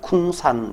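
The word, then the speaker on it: !Kung San: 쿤 싼 적이 있습니다 느낌표 는 발음을 하기가 굉장히 어려운데요 느낌표 군산 이렇게 있진 않겠죠 그냥 그냥 쿤산 이렇게 읽어주시면 됩니다 예 자 남부 아프리카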